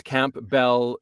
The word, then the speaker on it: Campbell: yeah I just it's Camp Bell is how you spell it and Campbell is how you pronounce it okay but as a